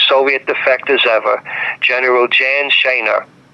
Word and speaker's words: Sejna: One of the highest rankings, one of the most important Soviet defectors ever, General Jan Sejna. I always pronounce his name Sejna phonetically it would be Sejna, s e j n a.